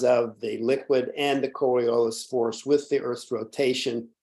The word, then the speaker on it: Coriolis: the Coriolis Force and the Coe core boy I'm not pronouncing that right coriolis Force there I got it coriolis force is a